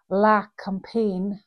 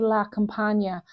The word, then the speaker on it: La Campagne: I think you pronounce it, it's French, I think you pronounce it La Campagne, but it could be La Campagna. I'm not entirely sure, so we'll know when the release comes out whether I'm right or wrong.